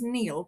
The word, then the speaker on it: Niall: Her son, who I had known for 2 years, his name was Neil, but it was spelled Niall.